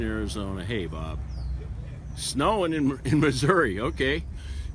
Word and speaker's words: Missouri: hey bob snowing in missouri okay maybe i should pronounce that misery chicago okay missed that